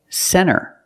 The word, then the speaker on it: center: first example is NT when you see NT a lot of times you don't hear the T example Center of course you can say center it's correct but a lot of Americans will pronounce it Center or this word 20.